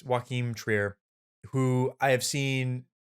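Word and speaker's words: Joachim: uh directed by uh it's pronounced it's pronounced like joaquin just with an m yeah that's it's joakim trier who i have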